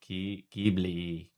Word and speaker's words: Ghibli: H is silent and I is E. Oh, Ghibli.